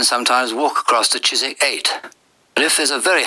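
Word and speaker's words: Eyot: 8 although it's spelled e yo T it's pronounced 8 it's an old Saxon word for Island it's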